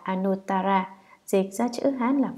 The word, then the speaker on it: Anuttara: Chữ Hà Nậu Đà La, nguyên âm Ấn Độ, đọc là Anuttara, dịch ra chữ Hán là vô thượng, nghĩa là trên hết.